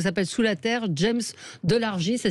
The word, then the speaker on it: Delargy: James Delargy, ça s'écrit D-E-L-R-G-I. Moi je dirais Guy, mais Delargy.